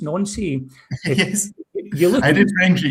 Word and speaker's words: Nancy: I did, to show my age here, O-level, higher, and 6-year studies French, and it's pronounced Nancy.